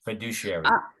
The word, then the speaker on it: fiduciary: Sorry to go back, but I have a question regarding the I can't pronounce that term, fiduciary? Fiduciary.